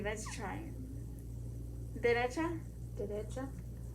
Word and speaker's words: derecha: Derecha? Derecha. Right. So you know how derecha, you hear more of the pronunciation of the D, Yeah.